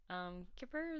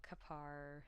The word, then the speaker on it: kippur: Remember I said that atonement's not really used, but kippur is the more modern way of saying it. But there's also kapar, whatever. I don't really care how you say it.